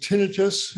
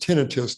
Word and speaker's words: tinnitus: about a condition called tinnitus um I uh ring in the ears Etc and by the way the word is pronounced tinnitus not tinnitus so if everybody tinnitus